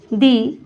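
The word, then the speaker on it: the: elephant third है दी अब दी कब बोला जाता है इसको जब किसी बात को बल देकर बोला जाए दबाव देकर बोला जाए तब हम इसको प्रोनाउंस कैसे करेंगे दी की तरह प्रोनाउंस करेंगे जब किसी बात को बल देकर बोला जाए तब दी तो दी बोलेंगे जैसे ही इज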